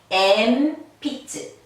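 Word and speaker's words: えんぴつ: 그럼 뭐라고? 미음 발음을 내라고. 그래서 이 발음이 엠피츠, 엠피츠, 엠피츠, 연필이 되겠어요.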